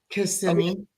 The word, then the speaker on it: Kissimmee: How do you pronounce that again? Kissimmee.